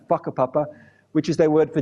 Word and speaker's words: whakapapa: In Aotearoa, New Zealand, for example, Maori people talk about the concept of whakapapa, spelt with a WH, not an F, whakapapa, which is their word for genealogy or lineage.